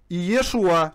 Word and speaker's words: Иешуа: На оригинале, на еврейском языке, Иешуа читается.